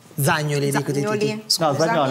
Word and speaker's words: Zagnoli: L'allenatore del Misano, Zagnoli. Buonasera. Zagnoli, ha detto bene. Zagnoli? Sì, ha detto bene. Bene. È che qua siete abituati da anni a chiamarmi così, invece lei... Ah, quindi è la pronuncia giusta?